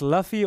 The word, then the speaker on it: Luffy: Is it pronounced Luffy or Luffy?